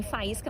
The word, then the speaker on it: faísca: Em faísca nós temos o hiato I seguido de S.